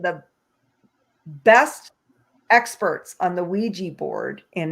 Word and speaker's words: Ouija: the history of the Ouija board, or Ouija, Ouija is the way that's what I've been told.